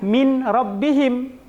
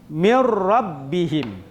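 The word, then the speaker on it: مِن رَبِّهِم: Jadi kita tidak membacanya dengan min rabbihim, tetapi seakan-akan nun ini hilang, mim ini seakan-akan langsung dia bertasydid dengan huruf ra. Bagaimana bacaan yang benar? Mir rabbihim.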